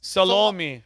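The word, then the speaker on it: Salome: but his last name's s a l o m e that's salomi oh I'm the ID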